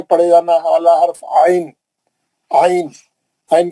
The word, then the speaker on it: ع: क्या लिखा हुआ है, this is pronounced from the middle of the throat. हलक के मरकजी हिस्से से पढ़े जाना वाला हर्फ आइन, आइन, आइन के बारे में बता रहा।